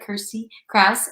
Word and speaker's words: Kirstie Kraus: dive into all things Kirsty Krauss uh it's pronounced like Kirsty Krauss and I give my next show is Thursday